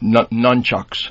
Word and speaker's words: nunchucks: But how do you say the first one? Nut? Nunchucks. Nut. N-U-N. Nun.